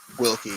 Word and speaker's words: Wilke: I'm your host, Frank Martin, and this is my guest, Wilke. That's how you pronounce it? Wilke, yep.